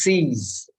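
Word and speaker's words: cease: then I'll ask you how do you pronounce c e a s e c e a s e right no it's not Keys If you say keys you're wrong it is C's and or what about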